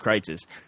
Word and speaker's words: Kreuz: But this place that we go to eat at Kreitz's, and Kreitz's is spelled Kreuz '. Yes. It looks like cruises, but it's pronounced Kreitz's.